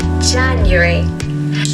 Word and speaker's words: January: January. So make sure to stress the first syllable, January.